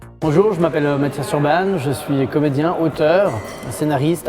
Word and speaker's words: Urban: véritable, la bonne prononciation, ce serait Urban, parce que c'est d'origine hongroise. Mais ici, on va dire Urban.